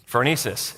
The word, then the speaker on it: phronesis: Phronesis.